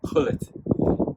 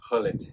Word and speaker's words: Gullit: You don't pronounce the G's. Gullit. Ruud Gullit.